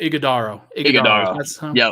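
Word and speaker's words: Ighodaro: strong skill set um Oso IG actually you pronounced that name Oso igodo sound pretty good okay you got it got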